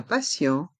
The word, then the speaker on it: patient: Dans le mot patient et patiente, le T a le son SE, car il est entre deux voyelles. Ici, les voyelles A et I. Un patient. Le E et le N se prononcent en. Patient. Et le T de patient, à la fin, est muet.